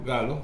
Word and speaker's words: Gallo: Sí, Gallo con doble L. Pero se pronuncia Galo. Galo, sí, así es, pero bueno.